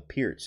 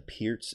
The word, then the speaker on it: Pirc: you don't know that it's actually the Pierce it's actually called the Pierce but it's spelled PRC IRC perk guys perk so um funny funny